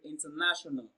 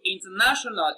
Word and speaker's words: international: So when you pronounce international, you can hear that na is pronounced louder and longer.